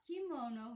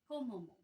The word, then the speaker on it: Komomo: Komomo, not kimono, not kimomo. Komomo, which is Little Peach.